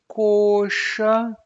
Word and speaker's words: colcha: For example, you have colcha, colcha. That's a long o sound.